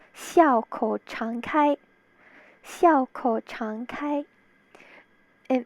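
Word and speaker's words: 笑口常開: So this whole thing reads Siu Hao Sung Hoi. Siu Hao Sung Hoi. In Mandarin, it's pronounced Xiao Kou Chang Kai.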